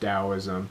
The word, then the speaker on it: Taoism: Lately, I'm getting into Taoism, Taoism spelled Taoism, pronounced Taoism.